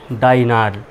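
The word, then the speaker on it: diner: যেহেতু long sound হবে তাই ডি আই ডাই উচ্চারণ হবে এনিয়ার নার তাহলে কি উচ্চারণ হল ডাইনার আর ডিনার নামে একটা শব্দ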